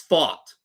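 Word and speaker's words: Pfaadt: weirdly spell I think Brandon thought is spelled p-f-a-a-d-t but it's fought like fight we fought Brandon fought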